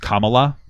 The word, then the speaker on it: Kamala: It's pronounced Kamala.